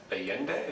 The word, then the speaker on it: Allende: let's move on to uh Allende is that the pronunciation yeah well again President of